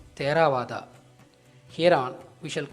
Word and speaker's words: Theravada: hence being Tamil word theravada should actually be pronounced as terawada here on we shall